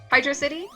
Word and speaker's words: Hydrocity: ever talked about this some people see it as hydro city because it's one word at the screen when you come up to it and so they pronounce it like hydro so these are like velocity but it's hydro ha ha good pun